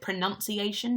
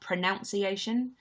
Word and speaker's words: pronunciation: actually pronounce pronunciation and the word pronunciation doesn't have an O after the first n it's just a you which makes it pronunciation not pronunciation so the word pronounce has n oh you and see E but pronunciation is just n you n see I do ru contempt with